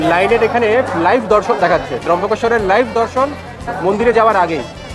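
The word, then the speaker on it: ত্র্যম্বকেশ্বর: ত্রম্বকেশ্বর বলে কিন্তু এখানে, ত্রম্বকেশ্বর আমরা এমনি উচ্চারণে বলি, কিন্তু এখানে লোকেরা ত্রম্বকেশ্বর বলে।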